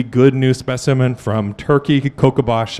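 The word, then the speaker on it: Kocabaş: new specimen from Turkey kabash I spelled it in the sort of angiz version it should uh be spelled with an S with a what do you call that thing on the bottom of it anyway kabash is how you say it so we'll we'll leave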